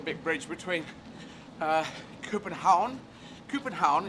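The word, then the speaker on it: København: bridge between uh copenhagen coopenhaun is how you pronounce in danish i don't know if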